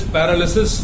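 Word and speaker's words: paralysis: ये पैरालिसिस नहीं होता है, लेकिन ज्यादातर लोग इसको पैरालिसिस प्रोनाउंस करते हैं, LYSIS की वजह से। इंग्लिश स्पेलिंग फोनेटिक नहीं होती है, मतलब जैसा हमें सुनाई देता है वैसी उसकी वर्तनी या उसकी हिज्जे या उसकी स्पेलिंग नहीं होती है। तो this is पैरालिसिस, नॉट पैरालिसिस, ध्यान रखिए, पैरालिसिस।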